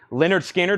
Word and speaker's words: Lynyrd Skynyrd: teeth Nirvana nevermind was a 2013 pressing 49.99 Leonard Skinner pronounced Lynyrd Skynyrd this is the first MCA press